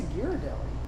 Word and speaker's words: Ghirardelli: not how do you say it i say ghirardelli let's see what google says oh that's serious